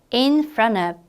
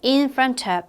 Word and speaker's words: in front of: 다시 in front of인데 발음할 때는 좀 연음이 됩니다. 그래서 in front of 또는 in front of 이런 식으로 발음해 주시면 되고 세 단어는 뭐다?